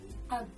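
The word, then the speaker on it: أب: It's pronounced ab.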